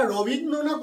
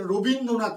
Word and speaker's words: রবীন্দ্রনাথ: আবার দেখো, অনেক ক্ষেত্রে আমরা রবীন্দ্রনাথ উচ্চারণ কিন্তু কেউ করি না, রবীন্দ্রনাথ উচ্চারণ করি। তাহলে র এর সঙ্গে অ আছে, অ ধ্বনি আছে, আমরা উচ্চারণ করছি ও ধ্বনি।